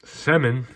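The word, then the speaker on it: Semin: Manny Malhotra Eric Brewer Alexander some that's how you say it semmen Ray Emery rest in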